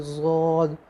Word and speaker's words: ضاد: اس کا تلفظ صحیح یہی ہے کہ ضاد، یا صرف ضا ضا پور پڑھے اس کو بالکل منہ بھر کے.